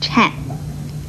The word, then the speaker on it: 忏: 这个颤字的国语注音是吃暗颤，四声颤。